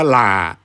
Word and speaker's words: หล่า: นี่ แหละ นะ ครับ พอ หีบ ล ลิง ไม้ เอก สระ อา นี่ ถ้า ออก เสียง ว่า หล่า ลา นี่ เป็น คำ วิเศษณ์